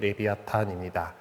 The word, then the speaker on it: 레비아탄: 일단 그리고 어 흉악하고 뭐 이제 그런 존재로서 생각을 하고 있는 것이 레비아탄입니다. 아 이게 영어식으로 읽금 리바이어던이거든요.